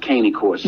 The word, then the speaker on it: Cane Corso: Primetime Cane Corso, as we say, but it's pronounced Caney Corso.